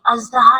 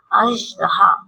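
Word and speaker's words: اژدہا: ये अजदहा नहीं होता, राइट प्रोनाउंसिएशन होती है अजदहा।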